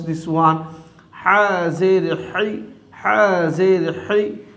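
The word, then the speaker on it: ح: Ha Zer Hi. From the middle of the throat you have to pronounce Ha.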